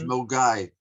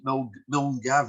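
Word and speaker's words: Milngavie: It's Mulgai. Thanks, John. You are the font of knowledge. if you're looking at it, you would pronounce it Mulgavi.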